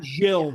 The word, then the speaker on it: Gil: I love really it's Jill. It's not really Gil. Oh, it is. Oh, really? Portuguese and that's how they pronounce it.